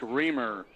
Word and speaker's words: Rymer: line to shoot two Jake reamer reamer okay got it I got it now keep on pronouncing it Rymer reamer yeah Ramer all right referees